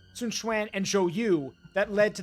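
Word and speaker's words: Sun Quan: or it's Sun Sunan is how you say Sunan and xyu that led to the famous Battle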